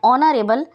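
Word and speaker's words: honourable: Yusuf is एन ऑनरेबल citizen.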